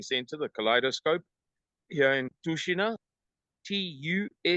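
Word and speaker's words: Tushino: the big shopping center, the Kaleidoscope here in Toshina, Tu H I N O, but pronounced Toshina in the northwest of Moscow.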